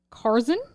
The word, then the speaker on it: Carson: Box there's Catherine Pavel Carson rhymes with Tarzan Yuri dunamis and Vera